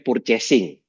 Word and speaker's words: purchasing: Departemen Purchasing, ya kan?